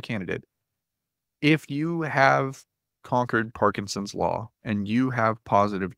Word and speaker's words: Parkinson's: Parkinson's, P-A-R-K-I-N-S-O-N-S, like Parkinson's disease, but it's not. It's a different guy.